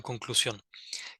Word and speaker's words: conclusión: Bueno, vamos a intentar entonces ya de integrar una conclusión, que pues tendría que empezar con el sujeto del que estamos hablando. Gracias. Conclusión. Exacto, con acento en la O.